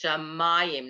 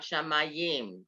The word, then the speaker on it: Shamayim: It's Shamayim, not Shamayim. There's a metic under the next to the last syllable.